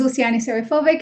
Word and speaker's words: Luciane Serifovic: go ahead absolutely so my name is Luciani serifovic and you said it right thank you so much